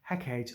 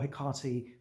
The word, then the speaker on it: Hecate: But in Macbeth, you see three witches and then Hecate or Hecate. Both pronunciations are correct for that particular uh, goddess.